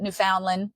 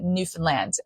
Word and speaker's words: Newfoundland: And we pronounce it Newfoundland. Newfies who are from there, we do not pronounce it Newfoundland. We pronounce it Newfoundland.